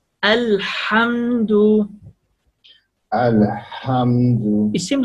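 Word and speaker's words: الحمد: Just make a lot pushing ear when you pronounce the letter ha, come from throat, a lot of pushing the air, a lot of pushing the air, come from throat.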